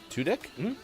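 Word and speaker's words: Tudyk: bliss uh actor alan tudek two dick today uh 51. that's how you pronounce it he's on firefly yeah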